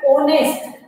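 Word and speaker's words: honest: बोलेंगे, इसको क्या बोलेंगे ऑनेस्ट, ओ की आवाज आएगी, ओ की आवाज आएगी, तो ओ की आवाज आने से या यहाँ पे आर्टिकल कौन सा लगेगा एंड आर्टिकल लगेगा।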